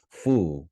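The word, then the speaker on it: 蝠: It has to do with the the character that they're written in and and the the sound fu, which you use to pronounce bat, also equates to luck.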